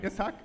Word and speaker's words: Ishaq: I just want to say I found out how to pronounce the name correctly. Is that right, Ishaq? So Ishaq, obviously not this Dr.